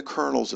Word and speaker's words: kernel: It's pronounced like colonel in a military, like captains and generals.